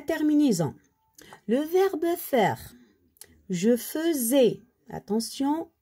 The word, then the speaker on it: faisais: Je faisais. Attention, le AI ici, on le prononce E.